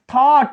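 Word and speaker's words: thought: थॉट, इसमें भी GH silent है।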